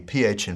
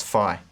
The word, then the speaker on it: phi: This is an F or a PH kind of sound. For both pronunciation systems, it's like the PH in photo or the F in foot. F, f. That's phi or phi.